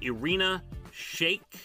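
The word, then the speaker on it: Irina Shayk: we'll see uh candy kanye was spotted with irina shake if i pronounce that right that's right yes the model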